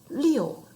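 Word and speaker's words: 六: like a person remember sounds like my name is leo leo and number seven number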